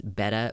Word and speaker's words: betta: it's even funnier than don't pronounce the t's pronounce them like D's betta but I I mean